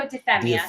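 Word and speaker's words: Deufemia: me pronounce his name Marco how do you pronounce his last name defia Marco defia defia yeah defia okay okay and was written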